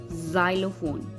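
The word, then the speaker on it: xylophone: excited box एंड फॉक्स ज के जो साउंड है वो किन वर्ड्स में आते हैं examine okay examine exit जाइलोफोन xerox तो ज करके यहां पे साउंड आ रही है ओके नेक्स्ट वैसे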